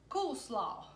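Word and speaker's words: koolsla: word cut it spelled Kol SLA and it's pronounced cool slaw so and it literally means cabbage salad so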